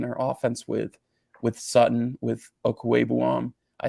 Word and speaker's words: Okwuegbunam: do have on their offense with Sutton, with Okwuegbunam, I said it right, I know.